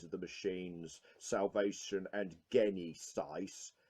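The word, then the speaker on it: Genisys: the machines salvation and gain east ice and yes I refuse to pronounce it Genesis because that's not how it's spelt but you've got him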